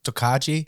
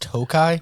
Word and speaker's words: Tokaji: I was like, "You guys have that Tokaji?" And they were like, Barrel. "What the hell are you talking Yeah. about?" Yeah. And they were like, "It's blue." I was like, "Sir, that's pronounced Tokai."